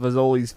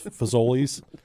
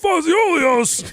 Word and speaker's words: Fazoli's: He'd go, I'm going to Faziolios. I knew he was going to say it wrong.